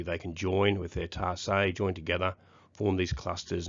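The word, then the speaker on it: tarsi: The ants have evolved with a special foot piece, a hooked foot piece called a tarsay. That says tarsus, but it's pronounced tarsay.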